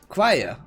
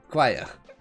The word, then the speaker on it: choir: Choir, okay, choir.